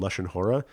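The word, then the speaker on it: לשון הרע: One is something called Lashon Hara, or you might have heard it called Lashon Hora. It's just a different Ashkenazi pronunciation.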